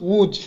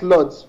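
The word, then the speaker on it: Łódź: and we pronounce it wood it's pronounced the l is with a stroke so it's woo so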